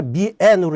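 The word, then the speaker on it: 面: 면을 갖다 미엔으로 이렇게 발음을 하더라고요. 중국어는.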